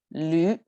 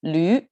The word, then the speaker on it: 驴: That's our pronunciation vowel as U, like in this case is a 驴 with a tone, right? So it's a 驴.